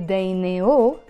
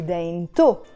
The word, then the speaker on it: دينتو: I'm not going to say heidi daineo because I added the possessive ending. In this case, we start pronouncing the te marbuta, the t sound. So that's why I say heidi dainto.